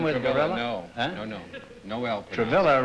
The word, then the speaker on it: Travilla: with no no no travilla rhymes with Gorilla Noel pronounced what is